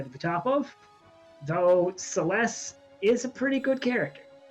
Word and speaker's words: Celes: how to pronounce it celeste i says franklin i usually say it as celes personally so it's more of a z than an s-s sound at the end of it yes this